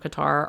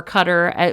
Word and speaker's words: Qatar: lobing for the government of Qatar or Cutter whichever way you want to pronounce it you can pronounce it either way cutter Qatar um I